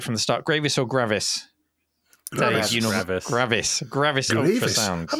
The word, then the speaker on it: Gravis: Gravis or Gravis? Gravis. Dave, Gravis Ultrasound. I've never heard Gravis. that pronounced that way in my life.